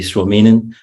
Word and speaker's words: Suominen: Suominen. Did I pronounce that right?